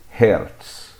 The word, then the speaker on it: Hertz: mais que merecida e em Português é comum pronunciar essa unidade como o resto ou Hertz dependendo da região em que você mora e vamos falar